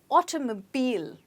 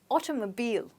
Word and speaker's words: automobile: as you can see the last sound in this word is a bit stretched and you must get that as well so it's automobile try it again automobile okay the automobile industry